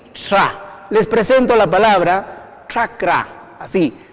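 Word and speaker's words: ch'akra: Entonces, CH, un apóstrofo, y ya les dije que se pronuncia cerca al paladar y los dientes, así, tra. Les presento la palabra chakra, así, chakra.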